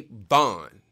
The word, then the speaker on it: Vaughan: stevie ray bond i learned how to say his name for all of you